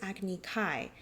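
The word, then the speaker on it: Agni Kai: If this were a Japanese manga panel, they may choose to write fire duel in kanji, but show that the pronunciation is agny kai.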